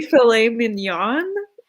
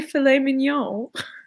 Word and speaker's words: filet mignon: weird in canada how do you say well now i don't want to say it you know you just say filet mignon yeah cause like in french like you never pronounce like the last like the n at the end of the world whatever i guess if